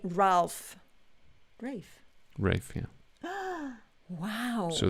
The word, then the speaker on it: Ralph: is that um reef it's funny reef is this sort of traditional the sort of old-fashioned pronunciation of the word ralph or the name ralph like ray fines but it's also a rafe it's become quite um